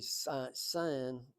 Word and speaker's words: Sin: And that's pronounced really Sin in the Hebrew.